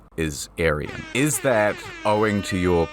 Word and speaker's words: Aryan: name got him and it is a persian name it's pronounced aryan you see the indo-aryans